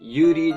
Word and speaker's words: Yuri: it on camera so perhaps it UD not Yuri because Japanese pronunciations and we've right here